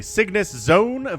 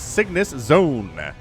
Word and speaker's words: CygnusXone: It is CygnusXone, which is how I choose to pronounce the X in CygnusXone as a Z.